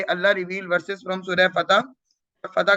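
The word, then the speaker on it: فتح: ऑन द way, Allah reveal versus from सूरह फतह। फतह का मतलब क्या है? फत। हम इसको पढ़ते हैं विक्ट्री। फत।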